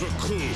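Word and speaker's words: Recoome: My name is Raccoon. It rhymes with doom, and you'll be hurting all too soon.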